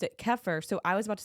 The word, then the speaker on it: kefir: It's actually pronounced cafair.